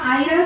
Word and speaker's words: Eira: अब रहा आयरा के बारे में, एक्चुअली ये ई हमारे जफर खान साहब को बोलने नहीं आ रहा, वो एक्चुअली आयरा है। सुबह से प्रैक्टिस कराई, उसके बाद फिर वही फाइनली ई साइलेंट है, आयरा है।